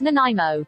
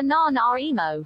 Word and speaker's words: Nanaimo: british columbia up there in the canadian it's pronounced nanaimo what the is a na na emo i've seen you be active i have never